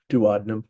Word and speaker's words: duodenum: that it's connected to is the duodenum, um, duodenum. I've heard it pronounced that way as well.